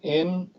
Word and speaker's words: Environics: Anyways, if you go to this website, this Environics Analytics, that's how to pronounce it, Environics Analytics.